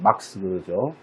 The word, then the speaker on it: 마르크스: 마르크스라기도 하고, 이제 원어 발음으로 이제 막스죠.